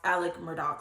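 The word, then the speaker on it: Murdaugh: now Alec Murdock and it's spelled Alex Murdo um to most people like if you see it that's probably what she'll pronounce it as but from my understanding and from a lot of people's Corrections it's actually pronounced Alec Murdoch so we're just gonna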